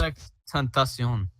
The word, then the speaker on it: XXXTENTACION: Yeah, it's just XXXTENTACION.